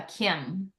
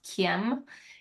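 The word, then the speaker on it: caim: my father with this symbol it's called Uh Kim which is pronounced c a i m but it's pronounced Kim it is a GIC Scottish symbol for Sanctuary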